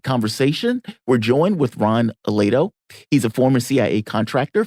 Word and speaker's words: Aledo: further into that conversation we're joined with Ron Aledo he's a former CIA contractor former joint Chief